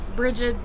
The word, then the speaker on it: Brigid: Because you have like Saint Bridget or Brigid, or however you want to pronounce her name, is actually Brigid, the Celtic goddess of like art and creating, crafting.